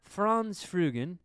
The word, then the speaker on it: Franz Frugen: France Fugan. Did I say that right? Yes. That's good. Good uh pronunciation of my name.